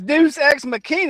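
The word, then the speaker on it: deus ex machina: That's that says deuce xmachina.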